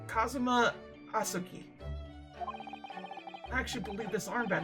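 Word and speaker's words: Kazuma Asogi: it's my best friend's name not mine it's pronounced Kazuma asuki I actually believe this armband has somewhat impot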